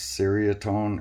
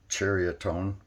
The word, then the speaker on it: Ceriatone: me I wasn't sure if it was uh pronounced Syria tone or psoriatone it's actually pronounced chariotone so yesterday I showed you the 36 RP